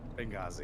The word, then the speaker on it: Benghazi: Benghazi. Benghazi.